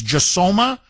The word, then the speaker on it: Josoma: Now, apparently, this is the idea of a far-left priest, Reverend Stephen, I think the pronunciation of his last name is Josoma, or Josoma.